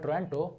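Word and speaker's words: Otranto: Okay, it's called Taranto, but it's written O Taranto, where O is silent.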